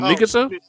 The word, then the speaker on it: Mikasa: Miska. I said it right. who are you talking What's about? her girl? Oh, girl, his sister, his adopted sister. Oh, Oh, Mikasa?